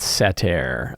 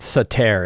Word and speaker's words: satyr: They're called satyr. Let's see. Satyr, right? Satyr is how they're pronounced, satyr.